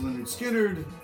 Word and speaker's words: Lynyrd Skynyrd: We all know this one, Lynyrd Skynyrd, pronounced Lynyrd Skynyrd, gatefold, and a great record, great rock and roll.